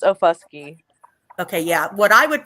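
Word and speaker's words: Okfuskee: It's Ofusky. Okay, yeah. What I would pronounce it, I'd be bleeped, okay, on YouTube, because that's where I want to go.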